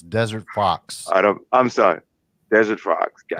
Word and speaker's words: Fawkes: the Fox is spelled That is such a cool name. FAWKES. Okay. Mr. No Show is FAW. Mr. spelled out. FAWK. FAWKES. Yes. Like Guy Fawkes.